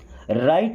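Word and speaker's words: right: I will be मैं होऊंगा राइट back. देखिए राइट का मतलब सही होता है ना, यहाँ पे जी और एच दोनों साइलेंट हैं, ये बात याद रखिएगा।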